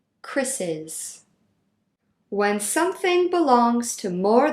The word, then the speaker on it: Chris's: Notice how the pronunciation stays the same. Chris's.